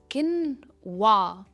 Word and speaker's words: quinoa: This is किनवा. किनवा, किन पर इसका स्ट्रेस है.